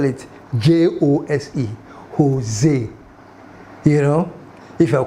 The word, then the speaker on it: Jose: you know, you know the Puerto Ricans and the Spanish people, they don't pronounce J.